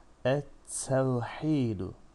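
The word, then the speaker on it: التوحيد: Ettevhidu. Şems güneş. Tevhid. Tevhid dini yani Allah teklemek manasına geliyor. Et te. Şemsi bir harftir te. Dolayısıyla kendisi şeddeli, bir öncesinde bulunan lam ise hiç okunmaksızın geçilir.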